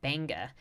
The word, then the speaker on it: Benga: The G is silent and it's pronounced Benga.